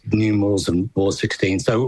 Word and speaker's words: Ward XVI: That is Ward XVI. It's not X1V, X1I or whatever, which you wouldn't have a clue how many times our name's been mispronounced by somebody.